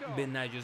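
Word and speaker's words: Benaglio: Sí, es Benaggio, sí, el apellido es italiano, es como Benaggio, aunque es muy complicada esa pronunciación de la conjunción de las letras G L en el italiano.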